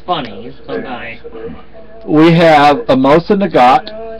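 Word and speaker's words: Mosin-Nagant: We have a Mosa Nagat. It is the N, from what my understanding, is not pronounced.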